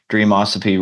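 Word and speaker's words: Dreamosophy: comom dream osophy rhymes with philosophy it's the word dream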